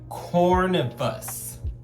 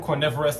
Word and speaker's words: Corvinus: I got it correct this time, Nico. Last time I called him Cornivorous and everybody was laughing and cackling, but I genuinely could not pronounce his name. But Corvinus.